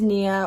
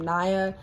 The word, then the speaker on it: Niah: i really don't care as long as people don't pronounce my name naya it honestly it really